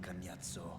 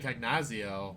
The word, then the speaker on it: Cagnazzo: I'm so used to saying Cagnazio, but I guess it's Cagnazzo.